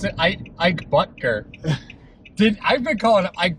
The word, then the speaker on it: Butker: Who knew that you pronounce it Ike Butker? I've been calling him Ike Bottinger for two seasons.